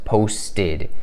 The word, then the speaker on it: posted: Y ese verbo post en el pasado, nosotros decimos posted con ese sonido de ed porque el verbo post termina en un sonido de t.